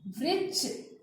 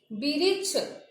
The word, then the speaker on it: वृक्ष: जैसे कृपा, कृपा आप बोल रहे हो कृपा, इसमें री मिला हुआ है। वृक्ष, मृग, तृण। अब देखिए आप कृपा, अगर आप बोलते हैं कृपा, तो ये हमारा गलत हो जाएगा।